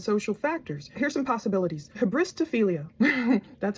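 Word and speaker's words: hybristophilia: Habristophilia, that's how you pronounce it.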